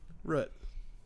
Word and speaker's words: root: And then I said, Daniel said he pronounced it like foot, root.